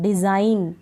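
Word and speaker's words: design: नहीं पढ़ा जा रहा डिजाइन जी इसमें साइलेंट है ठीक है एन तो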